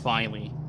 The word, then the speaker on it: Filey: So it is pronounced Filey.